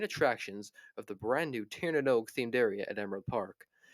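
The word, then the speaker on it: Tír na nÓg: are the main attractions of the brand new Tanog themed area at Emerald Park. Themed to the ancient Irish legend of the Land of Eternal Youth. Tanog, yes, that is how you pronounce that.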